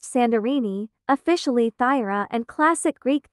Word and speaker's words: Santorini: Santorini Greek, pronounced Sandorini, officially Thyra, and classic Greek Thera English pronunciation are.